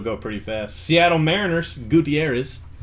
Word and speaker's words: Gutierrez: we started it'll go pretty fast seattle mariners gutierrez gutierrez that's how the announcers for race baseball say